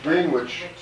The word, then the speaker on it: Greenwich: But Greenwich, Greenwich just down the river from London. As far as I know, the reason that they changed the pronunciation was that they had two German kings there, George I and his